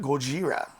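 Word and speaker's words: ゴジラ: You know, the Japanese call it Gojira. Gojira, what's that? That's how they say Godzilla.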